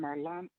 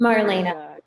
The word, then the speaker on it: Marlena: And Marlana, am I saying it right, Marlana? Is Marlena.